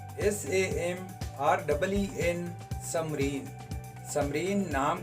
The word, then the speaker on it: Samreen: समरीन नाम का स्पेलिंग है SAMREEN, समरीन।